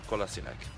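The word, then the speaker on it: Kolašinac: boy kassak yeah kassak I used to call him kinich 2 until Arsenal's Twitter released this video this is how you say my name SE kassak anyway kassak was included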